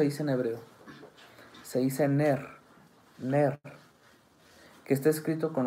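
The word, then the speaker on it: נר: Se dice Ner.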